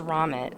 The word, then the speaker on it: Romit: I love how his name is Romit, like rhymes with vomit.